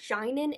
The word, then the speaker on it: Jainan: a marriage with another man named shannon it's pronounced jainan in the audiobook but i just it sounds too much like vagina so i'm going to call him janen that's how i read it in my head